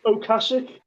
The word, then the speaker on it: Ocasek: Rick Okasik? Ocasek.